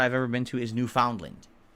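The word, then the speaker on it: Newfoundland: ever been to is New Foundland which is actually pronounced New Finland I don't know what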